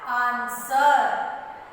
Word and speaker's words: answer: A-N-S-W-E-R. Answer. Answer. Answer. W is silent. What is silent here? W.